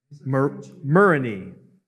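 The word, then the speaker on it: murrhine: Muriny is how we say it in English.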